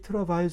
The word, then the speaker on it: travail: 잠깐 영행의 원어인 트래블 트래블의 어원을 찾아가 보면은 어 재밌게도 영어 발음으로 하면은 드라바일이라 그러는데이 트라바일 속에는 고생 고통의 뜻이 숨겨져 있습니다.